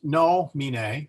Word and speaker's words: nomine: So anyway, nomine is pronounced nomine because the E is, well, we get rid of the E. I mean, we don't pay any attention to the E. We go to the second vowel, I, that's short.